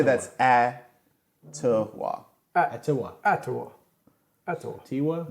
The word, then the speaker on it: Atiwa: Atiwa. I would say that's Atiwa. Atiwa. Atiwa. Atiwa. Tiwa. Not Atiwa, because it would be like, No, the ad he's saying is the yeah, is the emphasis.